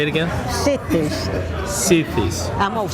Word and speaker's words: Sitti: Raleigh called CE cies C say it again cies cies I'm going to spell it the way we used to s i